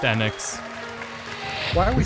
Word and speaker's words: Enix: Yeah, it's pronounced Enix Why are we saying Enix? This is so weird. because we're wrong. My life, Because saying Squeenix is great.